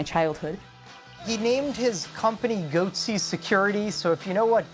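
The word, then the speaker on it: Goatse Security: Goatsy Security would expose the gaping security holes in your systems.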